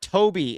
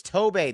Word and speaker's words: Tobe: team that I cover it's not viser and it's not Toby it's Tobe these aren't difficult man especially